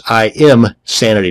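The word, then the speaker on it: Imsanity: That's ISanity, not insanity.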